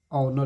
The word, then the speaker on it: honour: HONOUR में इसे ऑनर पढ़ा जाता है, तो जब ऑनर पढ़ा जाएगा तो इसमें क्या लगेगा?